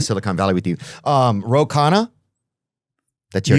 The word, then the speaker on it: Ro Khanna: Um Roana, that's your name. You got that. You got the pronunciation perfect.